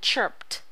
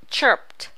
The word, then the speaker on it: chirped: the r d and chirped chirped pronounce the d as d and not t you have the n